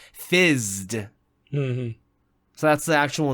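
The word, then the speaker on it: FZZT: I've always thought the episode was pronounced Fitzed, but because of the buzzing noise that happens in the episode, it's actually pronounced Fizzed. So that's the actual name of the episode, Fizzed.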